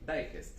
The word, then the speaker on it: Digest: Digest, sí, Digest. sí, se pronuncia muy como se lee, Digest.